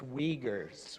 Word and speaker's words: Uyghurs: So I'm going through pronunciation too. All the nations. Yes, Israelis, Punjabis, Tibetans, and Uyghurs. That's Uyghurs.